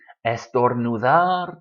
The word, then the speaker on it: estornudar: Estornudar, to sneeze, all stressed on the last syllable, estornudar. It's not estornudar or estornudar.